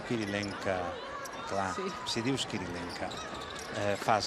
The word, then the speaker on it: Kirilenko: Clar, Kirilenko es diu Kirilenka.